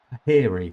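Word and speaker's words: Puhiri: from Peri Peri Peri I never know how to say his name p u h i r i Peri I think it is Peri huge this is a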